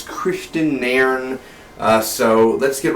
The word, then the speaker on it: Kristian Nairn: hod Christian narn or narn uh I totally butcher the name if I did it's Christian narn uh so let's get right to it hod